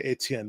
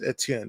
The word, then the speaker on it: Etienne: I say Etienne because I'm Haitian, so it's Etienne. It was Etienne. No, that's not how you say it.